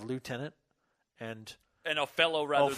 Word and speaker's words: lieutenant: if that's the case I wonder if that's why it's leftenant instead of lieutenant and I know fellow